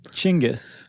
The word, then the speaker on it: Genghis: you Dingus you Dingus you pronounce it chingis oh really I think